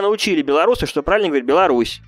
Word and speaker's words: Беларусь: Меня научили белорусы, что правильно говорить Беларусь.